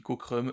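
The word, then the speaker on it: Cockrum: D'ailleurs, je dis Cokrou, ça se trouve ça se dit Cocrum. Je suis désolé, j'en sais rien. Ça se dit probablement Cocrum puisque de toute façon euh ma prononciation voilà.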